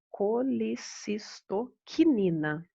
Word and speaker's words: colecistocinina: que a chamado de colecistoquinina Então tá escrito aqui ó colecistocinina mas a gente pronuncia quinina no final e ele é abreviado